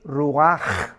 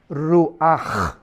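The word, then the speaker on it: רוח: espíritu es ruach pero la ch en hebreo se pronuncia como J es ruaj ruaj como j y murió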